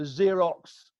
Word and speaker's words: Xerox: were more influenced by the Xerox is that how you pronounce it the Xerox was that 100% yes your axis right yeah